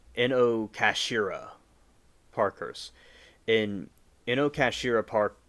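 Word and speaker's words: Inokashira: The Ino Casera Park curse in Inocasira cash. Oh, I'm pronouncing this wrong. Inocashira Parkers.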